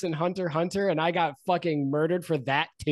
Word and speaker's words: Hunter x Hunter: an X there it's Hunter Hunter you just don't pronounce the X why is it there